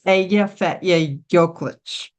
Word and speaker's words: Eyjafjallajökull: He's much better, but it's Eyjafjallajökull.